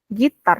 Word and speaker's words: guitar: swimming, singing, playing guitar, listening, playing guitar, Gitar, not guitar, but gitar.